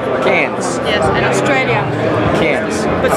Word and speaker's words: Cairns: Cairns, because I never can say it right. How do you do it? No, no R. No R. No, it's C-A-R. C-A-I-R. N-S. No R. Cairns.